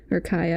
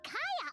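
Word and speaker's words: Kaeya: No, I mean like cavalry horses, because like Kaya, I say Kaya because I stuck on the Korean pronunciation. I used to have the voices in Korean, and they say it Kaya, and he's supposed to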